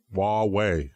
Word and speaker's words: Huawei: it Huawei Huawei yeah Huawei like waa WH why Huawei okay don't say don't try to say it like it spelled it's like trying to